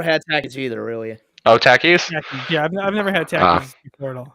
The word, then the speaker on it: Takis: take issue with the way you guys are pronouncing this it's Takis not Takis oh okay yeah that's right this is my